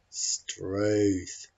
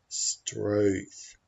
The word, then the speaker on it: Struth: It doesn't rhyme with tooth and it doesn't rhyme with earth. It's halfway between those two vowels.